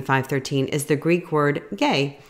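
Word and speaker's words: γῆ: So earth there in our verse, Matthew 5:13, is the Greek word gay. It's spelled G-H-A-Y and is used instead of world as a metaphor for the people of the world.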